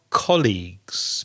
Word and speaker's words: colleague: not but we are colleagues because we work together we're colleagues don't confuse the pronunciation of colleague with college a college is similar